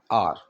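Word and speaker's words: hour: ठीक है, प्रोनाउंसिएशन हावर नहीं है, आर।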